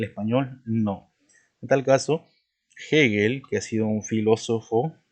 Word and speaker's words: Hegel: Por ejemplo, tenemos el nombre de Hegel, ¿no? Fíjate cómo pronuncio. Pero profesor, la H es muda. Sí, pero esto es un nombre extranjero.